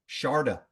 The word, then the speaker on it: Sharada: you on the show Sharda want to make sure I'm saying it right great to have you on the show you got it right perfectly thank you thank you